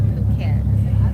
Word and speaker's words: Phuket: Okay, our pronunciation, we're going to get it right. Phuket.